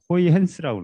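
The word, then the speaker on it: Huygens: 자, 근데 이거를 사실은 그 맥스웰 방식이 나오기 이전에 그 네덜란드의 네덜란드 사람들은 이 G를 H로 발음하더라고요. 호이헨스라고 그러더라고요. 호이헨스의 원리라는 게 있어요.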